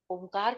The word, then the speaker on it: ओम: श्वास ले और फिर ओम का उच्चारण शुरू करेंगे अभी शुरुआत में हम इसको तीन चरणों में लेंगे इसको जैसे ओम शब्द बनता है तीन अक्षरों से मिलकर आ उ और मा ज्यादातर आ और उ